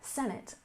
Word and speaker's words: Senate: and next we have Senate we stress the first syllable senate senate this is another voting